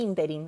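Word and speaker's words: ínterin: esta palabra si no el interín es una palabra esdrújula las dos siguientes son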